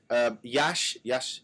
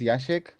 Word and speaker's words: Jasiek: And Jasiek, Yash, sorry. Would you like to introduce yourself? Sure, thanks. So my name is Yashik. That's the proper pronunciation, but I accept any variation.